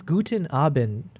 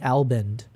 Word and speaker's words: Guten Abend: I've been saying it wrong. It's Guten Abend, right? I think I keep saying Albend.